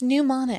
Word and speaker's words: Mnemonic: Job Virginia Beach all right let's dive into the first movie for this week is Johnny new ponic pneumonic pneumonic it's pneumonic the m is silent I don't know how